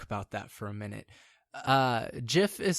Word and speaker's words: GIF: GIF is spelled J-I-F. GIF is G-I-F, and that's how it's spelt, and that should be how it's pronounced.